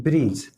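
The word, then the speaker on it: bridge: तो आप यहाँ पे देख सकते हैं ब्रिज में यहाँ पे जी है और जी से पहले यहाँ पे डी है।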